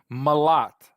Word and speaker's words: Malott: Malott. Like I like him a lot.